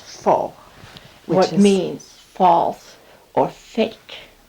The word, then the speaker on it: faux: is the word i think is faux and fo is spelled and we're gonna get into a little bit of a french lesson f-a-u-x and it's pronounced fall what means false or fake okay and the